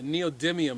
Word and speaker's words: neodymium: The little paddle has a neodymium, there we go, a neodymium magnet. I was corrected yesterday on the pronunciation of that.